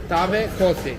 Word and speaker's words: Tavë kosi: Tavë kosi elbasani.